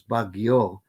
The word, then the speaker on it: Baguio: suffers from that is the very common word baggio which uh everybody knows is capital b capital is b a capital r i you capital s all right bagush for proto-austronesian but generally comes out as baguio with two it's by syllabic in most philippine